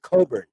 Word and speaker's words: Cockburn: he pronounces his name coburn thank you and i think he does pretty obvious reasons so it's not pronounced the way it's spelled it's pronounced cobra kofi coburn and he is a